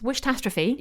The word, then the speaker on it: Wish-tastrophe: The Christmas Wish-tastrophe. Yeah, that's right. You got it. Yes. Like catastrophe, but wish-tastrophe. Absolutely smashed it there.